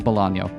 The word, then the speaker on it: Bolaño: Although now I'm remembering, does he have an enye, a tilde on that N or not? Is it actually Bolano all along and I've been saying his name wrong? No, there is a tilde on the end.